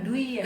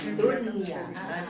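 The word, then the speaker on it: دنيا: Dunia dunia dunia kepencet dunia dunia dari dunia bukan duya duya duniaun dunya tapi kan ibu pas baca pasti kadang-kadang iya kalau enggak enak enggak enak dengarnya enggak tapi sekarang baru tahu Jadi enggak ada enggak dimasukkan enggak dimasukkan kayak idgamunah enggak duya tapi dunia karena satu kalimat dalam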